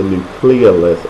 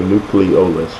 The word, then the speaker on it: nucleolus: All right, so these ribosomes are made up of RNA, located in the nucleolus or the nucleolus. You can pronounce it either way within the nucleus of the cell.